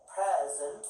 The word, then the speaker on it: present: It has second syllable stress as verb. Present.